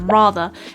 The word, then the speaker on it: rather: the schwa sound so coming back to this word rather it has a few pronunciation points that we can look at there's firstly this non-rotic r at the end which is quintessentially British